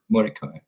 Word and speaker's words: Mordecai: Mordecai. That's how you pronounce it.